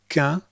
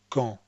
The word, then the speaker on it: qu'un: And this is qu'un, not con.